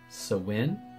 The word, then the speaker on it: Samhain: whole thing so the gaelic people call it sawin but i guess most people think of it as samhain or pronounce it samhain in some countries it's also